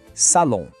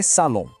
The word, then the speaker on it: salon: A gente diz assim, le salon. Mais rápido, le salon. Reparou? Aquele mesmo som nasal de maison apareceu de novo aqui em salon.